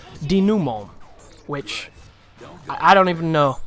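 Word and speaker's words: dénouement: This is the mission 5-1, and according to the Google Translate woman, this is a French word, and it is pronounced DENOUMENT, which I don't even know.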